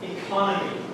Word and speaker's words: economy: The last three have the stress on the same syllable. The first one is the only one that's different. Okay?